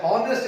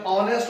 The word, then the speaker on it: honest: ऑनेस्ट का word जो कि एच से स्टार्ट हो रहा है, हॉनेस्ट इसको नहीं बोलते, इसकी प्रोनाउंसिएशन ऑनेस्ट होती है.